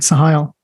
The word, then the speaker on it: Sohial: Today, I'm very blessed to have Solhial. Is that how I pronounce it? Yeah, actually, it's quite good. Sohial.